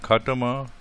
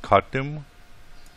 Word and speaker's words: khatama: I circle the Arabic word khatama, which can also be pronounced khatim, and I circle the Hindi word Anguthi.